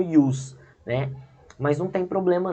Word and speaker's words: jus: Se fala, só escreve com j, mas fala como ius, né?